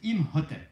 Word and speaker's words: Imhotep: La chouette, ça fait Im. Et puis ça, c'est un hôtel avec un pain dessus, ce qui se prononce Imhotep.